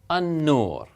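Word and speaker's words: النور: So what happens again is this lam is not pronounced. The short vowel here is, and this is essentially doubled, so this becomes ash-shams, ash-shams, an-nur, okay, a-ta'ira, okay, ad-dars, and so forth.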